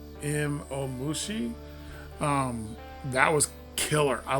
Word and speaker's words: Imomushi: with um the caterpillar I believe it's pronounced M om Mushi um that was killer